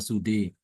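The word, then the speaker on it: سدى: Sua di surah Thaha suwe sudaha di surah alqiyamah dibaca sude.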